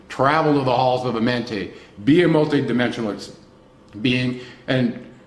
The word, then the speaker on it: Amenti: Amenti, yes.